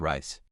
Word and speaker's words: Reiss: How do you pronounce the word rice?